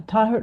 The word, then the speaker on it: Taher: Uh Tahert over over to you. Thank you Suzanne and yeah you're close almost there with my pronunciation is Taher in Taher is in Arabic.